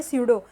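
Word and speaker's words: pseudo: स्यूडो, P silent होता है।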